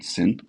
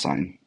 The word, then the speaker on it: sine: function as a function it's written as s-i-n syn but it's pronounced sine and so sine of